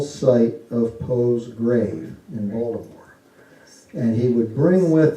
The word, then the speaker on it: Baltimore: Had to be in Baltimore, which is actually pronounced Balmer.